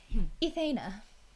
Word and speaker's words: Ethana: Quite, if Ethana. Ethana. It's like Ethan, but like a girl version.